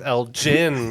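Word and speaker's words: Elgin: Wana rail trail yeah much like Derby Darby it's El Jin my friend tou we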